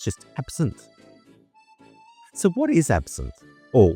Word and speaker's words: absinthe: what is it spelled a b s i n t h e. In French, it's actually pronounced absin. So, you don't pronounce the he at the end. It's just absent.